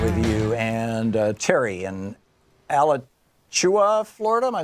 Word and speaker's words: Alachua: And Terry in Alachua, Florida. Am I saying it right, Terry? Close. Alachua. Alachua.